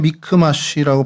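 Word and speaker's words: מכמש: 어 히브리어로 그냥 미크마쉬라고 발음이 되는데요.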